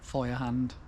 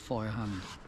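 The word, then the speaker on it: Feuerhand: It's actually pronounced, I've been told it's pronounced fire hand, even though it says, well, it's German, so it's F-E-U-E-R and fire hand, but apparently it's pronounced fire hand, and that's the symbol is a hand with a fire on.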